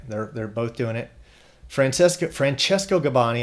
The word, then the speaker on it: Francesco Gabbani: Francesco Gabbani, Italian singer. You got to change gears to go into my Italian pronunciation there.